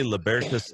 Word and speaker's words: Libertas: that for me again we say yeah we say libertas Institute lavertus is the roman